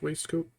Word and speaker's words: waistcoat: Pull it across these creases around his waistcoat. His waistcoat. That's the proper way to say waistcoat in British, which is fucking weird. Waistcoat. It's also spelled waistcoat and pronounced waistcoat, which is just, I don't know.